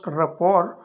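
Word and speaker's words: rapport: more over, इसके अलावा the house of Sharif enjoys a close रपोर, ये यहाँ पे टी साइलेंट है, तो जो शरीफ घराना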